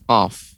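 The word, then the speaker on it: قاف: Sekarang pertama pengucapan huruf qaf ya. Qa, qa, qi, qu, aqu. Ko, Ya, ki, ko, ki, ku, aku. ya. Aku ya, huruf qaf ketika qalqalah dia agak lebih tebal karena termasuk huruf-huruf isti'la.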